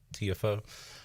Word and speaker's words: Tiafoe: Tiafoe.